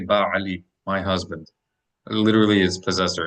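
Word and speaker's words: בעל: Ba'al. Tell me what it means and how many syllables is that? 2 syllables, and it means like a leader, Lord, It's like Lord, or God.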